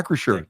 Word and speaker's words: Acrisure: That's coming to Acrisure. Is that how you say it? Yeah. Acrisure.